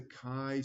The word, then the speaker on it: chi: we use is the kai Squared Distribution remember Sky rhymes with I Kai you can do